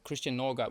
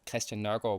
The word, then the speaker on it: Christian Nørgaard: So, I think I probably pronounced it in an English way and then in a Danish way. So, Christian Nørgaard would be the English way and then Christian Nørgaard would be the Danish way.